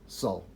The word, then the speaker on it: sol: earth is also called sol s-o-l okay it sounds it's said exactly the same way as we would pronounce eso ul our soul that our inner light